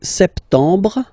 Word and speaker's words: septembre: So, septembre, septembre, septembre. Remember this E-M en septembre. Br, br. You don't insist on the final E.